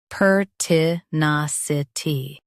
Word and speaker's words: pertinacity: Per, t, nas, I, t, pertinacity, per, t, nas, I, t, pertinacity. Emphasize nas and keep t light.